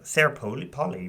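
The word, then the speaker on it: Sarah Polley: Oh my God, Sarah Polly, right?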